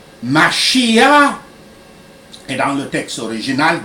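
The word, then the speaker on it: משיח: Dans le judaïsme, Messie, qui se dit en hébreu Mashiach, et dans le texte original des Écritures, et en grec, qui se prononce Christos, qui signifie oint, couvert d'huile.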